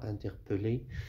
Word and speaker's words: interpeller: Mais faites attention, il y a une petite remarque ici, ce verbe-là, interpeller, il s'écrit avec deux L, mais il se prononce comme un seul L, j'interpelle, etc.